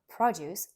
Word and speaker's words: produce: the lecture for me produce as a noun produce stressed on the first syllable this could be for example fruits and vegetables the grocery store sells fresh produce but produce as a